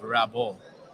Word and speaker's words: Rabot: it's pronounced Rabot. And Rabot.